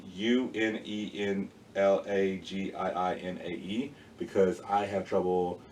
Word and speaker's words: Unenlagiinae: It's Unenlagiinae, because I have trouble spelling out loud in my head, so I wrote it down right here. And it's like Unilingia.